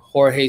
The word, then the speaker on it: Jorge: In Spanish, it's Jorge, right? My dad. My bad. Not there in terms of pronunciation. No, you know what? It's but I do go by Jorge, right? Like even my brain defaults to Jorge.